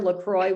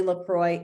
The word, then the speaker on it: LaCroix: my last name i'm thankful for lacroix water because that's how you spell my name um and it's my